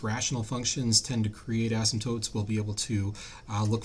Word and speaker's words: asymptotes: we see here in the notes is called asymptotes that's how it's pronounced our content goals for today is to